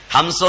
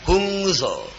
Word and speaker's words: ഹംസോ: അവിടെ പഠിപ്പിച്ചു കൊടുത്തത് എഴുതിയപ്പോൾ എച്ച് യു എൻ എസ് സോ എന്നാണ് എഴുതിയത് ഹംസോ എന്നാ സോഹമാ മന്ത്രം പക്ഷെ സായിപ്പിന് അത് തിരിഞ്ഞില്ല ശരിക്ക് സായിപ്പ് അവന്റെ വികലമായ ഉച്ചാരണത്തിൽ ഹുങ് സോ എന്ന് പറഞ്ഞു ഇവിടെ വന്നു കൈ ഇങ്ങനെ